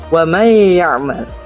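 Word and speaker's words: ومن يعمل: Contoh: wa may ya'mal. Wa may ya'mal. Wa may ya'mal terdiri dari kata man dan ya'mal. Man dan ya'mal. Nun sukun bertemu dengan ya.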